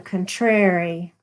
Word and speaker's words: contrary: Blessed are the contrary. Accent on the second syllable in Mid-South talk, as my sainted grandmother